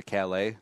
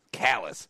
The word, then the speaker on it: Calais: So, this town is spelled C-A-L-A-I-S, and it's obviously an homage to Calais, you know, the French city, except us Americans always ruin pronunciations. Calais. Welcome to Calais. Welcome to Calais, Maine, baby.